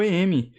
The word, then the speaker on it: em: Aí o pixel, que é o Picture Element, e o EM, que a gente pronuncia, que é a pronúncia da letra M em inglês.